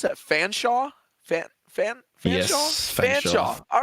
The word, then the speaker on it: Fanshawe: Nichols, Durham, do you pronounce that Fanshawe? Fanshawe? Yes, Fanshawe.